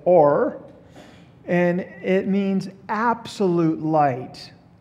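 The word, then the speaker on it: אור: The word there is or in the Hebrew. It's spelled O-W-R, but it's or.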